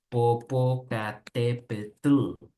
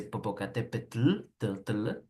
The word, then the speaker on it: Popocatépetl: México que es el Popocatépetl, yeah, Iztaccíhuatl, yeah. So this like t with L, no, it's a Popocatépetl, is difficult, right?